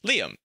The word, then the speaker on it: Liam: Well, no, not Ian. Liam. It's Liam. Liam. It's like Liam Neeson.